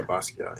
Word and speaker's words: Basquiat: Um, Yeah, so tell me a little bit about Basquiat, and am I pronouncing that correctly? yeah, yeah. Yeah, Basquiat.